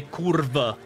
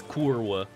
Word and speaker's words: kurwa: Polish person says Kur they pronounce it like a V not a w and then every single